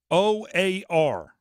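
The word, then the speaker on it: O.A.R.: the fan text keyword o a r i feel like I have to say it that way keyword or yeah well you can misspell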